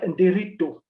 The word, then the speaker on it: Nderitu: is brilliant now my name is uh and dirito that's how it's pronounced I'm an author in every perhaps in